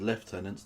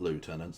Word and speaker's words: lieutenants: He said left tenants, not lieutenants.